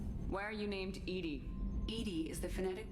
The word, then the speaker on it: EDI: is a joke why are you named edie edie is the phonetic pronunciation of edi get it like in your